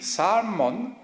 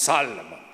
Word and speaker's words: Salmon: The silent L in salmon don't pronounce Salomon silent L.